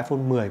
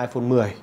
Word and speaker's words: iPhone X: xem là đọc là iPhone X hay là iPhone 10. Đấy, tuy nhiên là chính xác ấy, thì chúng ta phải đọc là iPhone 10, bởi vì là trong